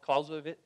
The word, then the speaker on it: Clausewitz: Is that how you say it? Clausewitz? Yeah, okay, I have to do the right German thing.